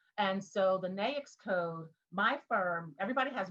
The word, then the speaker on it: NAICS: We pronounce it NAICS, right? And so the NAICS code, my firm, everybody has one primary NAICS